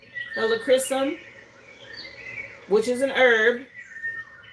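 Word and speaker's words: Helichrysum: I mentioned Leo season, but hella crysum came out. This boosts resilience. Um, it's spelled H E L I C H R Y S U M. Helocchrysum, which is an herb.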